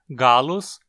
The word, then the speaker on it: gallus: científico da galinha Claro gallus gallus domesticus o nome significa galo galo doméstico como galos só tem duas sílabas só pode ser paroxítona já domésticos termina como